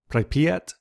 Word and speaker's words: Pripyat: And up here, I believe you pronounce it Pripyat.